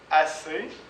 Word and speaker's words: assez: alli resteri donc et on ne prononce pas le Z on ne prononce pas le Z donc e Z comme ça assez chez neé aimé alli